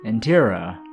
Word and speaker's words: Intira: Intira. R. Could you spell that?